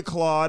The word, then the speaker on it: Claude: Cam may call you Claude. I'm going to call you Claude because that's the proper way to say it. Claude Lemieux told us that.